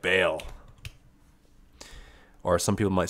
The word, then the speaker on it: Baal: say it different ways I'll say it baale or some people might say ball either way it's spelled